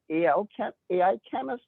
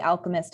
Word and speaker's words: Alchemist: Then you took up an active role, and is it AI Chemist Accelerator? How do you say that? It's the Alchemist Accelerator.